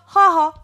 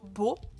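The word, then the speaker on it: 母: Donc, celui-là, quand il est tout seul, hein, on prononcera haha. Voilà, ma maman. Hein. Watashi no haha. Sinon, en lecture en, il se lira plutôt beau.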